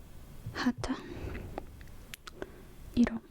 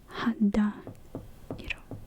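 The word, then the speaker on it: 肌色: So skin is hata iro. So that's how you say it. Hada. Hada. Sorry. Hada iro.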